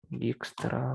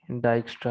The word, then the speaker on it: Dijkstra: चलो देख लेते हैं, इसकी प्रोनाउंसिएशन देख लेते हैं, एक मिनट भाई, एक मिनट। डिजिक्स्ट्रा भाई। Dijkstra. ले भाई, डाइक्स्ट्रा हो गया ये तो।